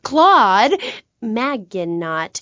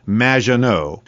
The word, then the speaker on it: Maginot: It's Madge, which rhymes with badge. As in duh, and no as in more than you. Maginot.